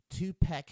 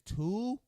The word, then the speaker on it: Tupac: that two-pack she could his name is Tupac pop replace the a with an o in your mind and then say it correctly that's like me calling